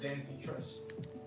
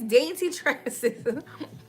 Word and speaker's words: Dainty Tresses: Dainty Trust. You can't even say it right. It's Dainty Tresses.